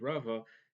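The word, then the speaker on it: רבא: And so Rabba is with the Hey, it's with a Beis with a dot, and so it is pronounced Rabba versus Rava is pronounced with an aleph and is pronounced with a vase in the Ashkenazi pronouncing.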